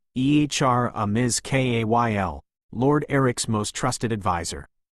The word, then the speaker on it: Aramis Kale: Their banter was interrupted by a messenger from the familiar Rugal Council, personally overseen by Aramis Kale, pronounced Ehr Amiz Ka L, Lord Eric's most trusted adviser.